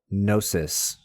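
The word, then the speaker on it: gnosis: text likely pointing to what we might call nosis spelled with a g n o s i s.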